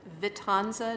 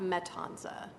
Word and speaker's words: Vitanza: One of them was Elizabeth Vitanza, not Metanza. So if I'm correct, the name is spelled Vitanza. But that's just from my recollection.